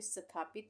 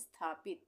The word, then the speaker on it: स्थापित: स्थापित, यहाँ पे स्थापित नहीं बोल रहे हैं, हम बोल रहे हैं स्थापित। तो स का उच्चारण क्या हो रहा है? आधा हो रहा है, तो इसलिए हम आधा स बनाएंगे, स्थापित।